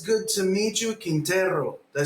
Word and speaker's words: Quintero: That's Quintero. All right. There we go. I learned how to pronounce his name, and so did you.